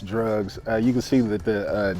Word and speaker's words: (D)rugs: is called drugs it's called drugs yeah it's pronounced drugs you can see that the D is hyphenated